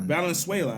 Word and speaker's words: Valenzuela: Valenzuela, I believe. that's how you say it, Valenzuela.